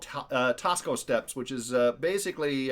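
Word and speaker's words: Taxco: Uh, and that's Tasco pronounced or spelled T A Xco Tasco.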